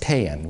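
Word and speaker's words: paen: The Indo-European stem is pronounced paean.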